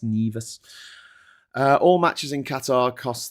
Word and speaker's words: Nevis: It's spelt Nevis, but it's pronounced Nevis.